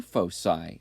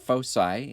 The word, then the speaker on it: foci: on an ellipse and yes we do pronounce that fo sigh at least a math class I know you're science teachers like to call it foci both of them are actually appropriate and then there's two